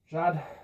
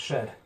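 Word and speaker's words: שד: aren't this wood here chad um means booby breasts bit like the word dad okay it can also mean demon okay sometimes pronounced shed but it could mean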